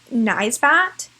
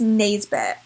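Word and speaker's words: Naisbitt: get some photos point I do pronounce every single time nice bat and it's Nays bit so every time I say nice bot I'm pronouncing it wrong I thought it should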